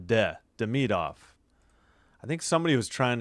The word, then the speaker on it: Demidov: Demidov. Yeah. It's not Demidov. The emphasis is on Demidov.